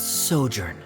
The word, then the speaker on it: sojourn: everything clear directors osimos how do you pronounce this word let me see Ah that's sojourn it means to stay for a while this